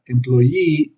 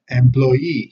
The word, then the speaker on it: employee: see employee and Blair employee empleado okay employee here we have the phonetic transcription okay employee remember that the apostrophe tells us that the accent is before the syllable in phonetics okay the company requires